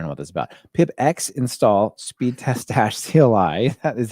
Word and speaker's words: pipx: Pip X install speedtest-cli. That is how we pronounce this. I know the X is invisible, but not silent.